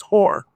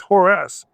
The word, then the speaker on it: Hor: And you might hear somebody say his name is Horus. They do that because the word Hor is a bad word in English. So his name is actually Hor, literally Hor. And so H-O-R.